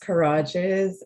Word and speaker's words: Kirages: And so, yeah, my last name is Kirages, and I'm really lucky in that it rhymes with collages.